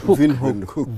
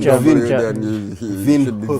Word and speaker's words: Windhoek: Windhoek. Wind is pronounced like a V. Windhoek. Is it? You can hear the German. The German? Windhoek.